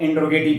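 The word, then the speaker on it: interrogative: अनिश्चयवाचक सर्वनाम और इंटेरोगेटिव pronoun वो इंटेरोगेटिव नहीं होता है। इंटेरोगेटिव इंटेरोगेटिव इंटेरोगेटिव। इंटेरोगेटिव क्या बोल उसको? इंटेरोगेटिव। जरा सुनिए मेरा प्रोनाउंसिएशन। इंटेरोगेटिव।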